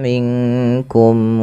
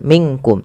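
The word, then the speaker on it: منكم: Ah ini yang sering terjadi bukan minkum tapi dia samarkan ke huruf kaf. Qolilam min anka inku mak mink minkum wa antum pelafal minkum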